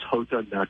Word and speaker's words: Jota: I am Jota herb that is Jota Jota a lot of people put that heart Jeon there but it's actually the Spanish pronunciation of the letter J my real name is